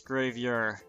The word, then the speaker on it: gravure: just telling you how to pronounce things it's pronounced like graveyard except for instead of graveyard it's grave you're okay thanks google come to think of it